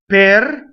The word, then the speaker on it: per: Per. Doesn't rhyme with the per, right? Doesn't rhyme with the fruit pear.